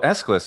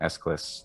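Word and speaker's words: Aeschylus: this uh playwright well escalus is totally fine for the english pronunciation escalus that's the the normal one there um and let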